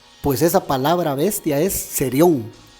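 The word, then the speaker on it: θηρίον: porque esta palabra fieras en la voz griega se pronuncia serio serio en la orilla esa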